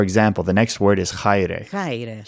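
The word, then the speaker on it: χαῖρε: For example, the next word is chaire. Chaire. Here, the AI is no longer pronounced e, it's I.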